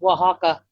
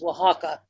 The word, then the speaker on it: Oaxaca: and Guaymas I believe your cheese would be pronounced Oaxaca it is a town and a region but it's spelled the way you were saying it your cheese's it is Oaxaca anyway god bless you thank you for all